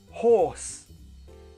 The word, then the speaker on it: hoarse: say my voice is hoarse yes the same pronunciation as horse horse your voice is hoarse same pronunciation different spelling if your head is